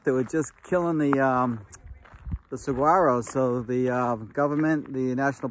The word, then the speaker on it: saguaro: Most people, when they see saguaro, because there's a G in it, but the G is silent, so it's saguaro.